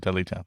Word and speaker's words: Dudleytown: You should Dudleytown.